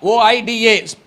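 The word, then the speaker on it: οἶδα: One is oida, O-I-D-A, pronounced as O-Y-E-D-A, oida.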